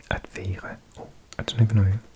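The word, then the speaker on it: være: I need to pronounce the R a bit more German.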